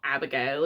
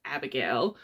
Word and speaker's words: Abigeil: Even Abigeil, it's not Abigail, it's Abigeil. Like it's Abigeil.